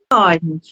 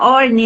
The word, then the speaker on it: Horn: É Orne. É, a pronúncia é meio Orne, né? É porque Or, termina com N. Orne, Or. é.